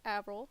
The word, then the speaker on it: Avril: This is Avril. That you pronounce it Avril. Avril Lavigne is who she's named after.